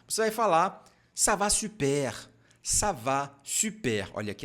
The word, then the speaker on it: super: Lembrando que aqui, ó, o biquinho, então você não pode falar super. Está errado. Super, super. É só pronunciar a vogal I e fazer o biquinho.